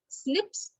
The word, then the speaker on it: SNP: in this case and snips or snps it's pronounced as a snip but it's called snp so single nucleotide polymorphism